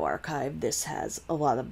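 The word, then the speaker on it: arXiv: your own publications so bioarchive and med archive are offshoots of archive uh spelled the same way just a capital r x i v and that is a multi-subject pre-print repository that has been around since 1991.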